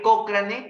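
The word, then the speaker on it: Cochrane: se escribe escribe así se escribe pero se pronuncia como la calle cocrane del cañón entran a Google más y visiten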